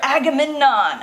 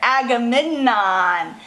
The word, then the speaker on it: Agamemnon: Okay, Menelaus convinced his brother Agamemnon.